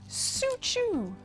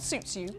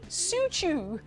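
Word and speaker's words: Soocho: We have then also got, and this is a name I've never heard before until today, Suchu. Not Sutsu, Suchu. Suchu jade, which is spelled S-O-O-C-H-O.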